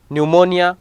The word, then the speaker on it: pneumonia: Pneumonia, P is silent over here.